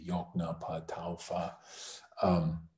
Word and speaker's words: Yoknapatawpha: I don't think I have to spell it. Well, I'll spell it. Yoknapatawpha. Yoknapataufa. You spell it like it sounds.